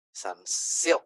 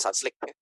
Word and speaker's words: Sunsilk: Perhatikan shamponya Bapak Ibu mereknya sama misalnya Sun Sun Silk ya bacanya Sunsilk ya saya karena Jawa seringnya ngomongnya Sunslick biar lebih gampang.